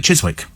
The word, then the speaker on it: Chiswick: up there but no no it's it's definitely Chiswick Chiswick it's spelled like that c h i s w